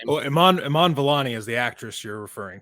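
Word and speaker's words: Iman Vellani: do you guys remember or know how to pronounce her name well Iman Iman volani is the actress you're referring to yeah yeah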